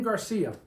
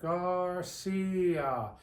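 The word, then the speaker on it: García: how about the name Garcia you tell me Garcia okay stretch it out Garcia when you stretch it out you can hear you're pronouncing the I and you're hammering on the a as well Garcia well when I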